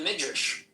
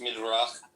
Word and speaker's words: Midrash: It's in the Midrash. It's in the Midrash, okay. But what's up with black people being cursed? It's actually pronounced Midrach.